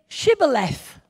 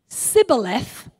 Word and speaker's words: Shibboleth: If he replied no, they said, "All right, say Shibboleth." Sorry, that's why I find it funny. Try saying that. Shibboleth. If the person replied Sibboleth, because he could not pronounce the word correctly, they seized him and